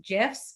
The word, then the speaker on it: GIF: So it's actually technically supposed to be pronounced GIFs, but I've never heard anyone pronounce it that way. Everyone says GIFs. So either way you say it, it's fine. But those are really, really